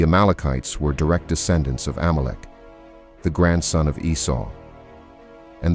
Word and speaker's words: Amalek: In Hebrew, the name is pronounced Amalecch.